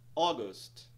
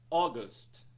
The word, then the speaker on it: August: control control por fim temos a palavra August temos um apóstrofe logo após a primeira sílaba que indica que a primeira sílaba será mais alongada e pronunciada em um tom mais alto pronúncia da palavra é